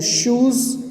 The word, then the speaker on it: shoes: Shoes rhymes with zoos.